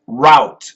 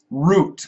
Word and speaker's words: route: know be Gad says route route root we have two pronunciations for that route root route root Mommy Mommy yummy